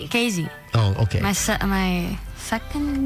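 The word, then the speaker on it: Keezy: looks like key it's it's really KY that's how you pronounce it it's a Dutch nickname dut yeah KY is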